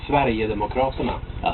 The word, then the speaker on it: Sverigedemokraterna: Sverigedemokraterna.